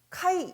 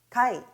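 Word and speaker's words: 会: 여기 서 음독 은 " 카이 " 로 읽습니다 .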